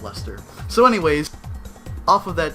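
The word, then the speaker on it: Leicester: to pronounce that word liester no absolutely not absolutely Chester leester nope Li is it okay is it lie no it's not it's Lee no le it's Lester what what yeah okay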